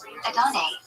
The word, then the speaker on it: Adonai: The correct pronunciation, Adonai.